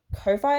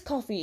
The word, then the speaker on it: Ko-fi: And yeah, these are all printouts from Monitor Comics templates on Ko-Fi, I think it is. No, I think it's Coffee is how you pronounce it.